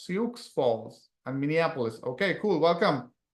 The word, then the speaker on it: Sioux Falls: How do I even pronounce that? SEO Falls, Sioux Falls, and Minneapolis.